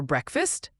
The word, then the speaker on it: breakfast: Remember it's two syllables break fast but the a in fast is a short uh sound not a long ah.